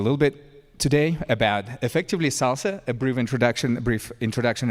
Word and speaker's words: SLSA: It stands for supply chain levels for software artifacts pronounced as Salsa.